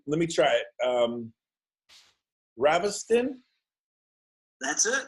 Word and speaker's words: Ravestijn: just we can the Jay is silent so you can call